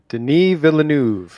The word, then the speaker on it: Denis Villeneuve: attempts that did happen david lynch and then pronounce his name jacob you're good with these things denis villeneuve that's right that that that dune name yeah